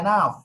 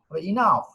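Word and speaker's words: enough: অনেকে বলে এনাফ, না, শব্দ সঠিক নয়, ইনাফ।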